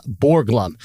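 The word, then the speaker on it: Borglum: And then, uh, Borglham.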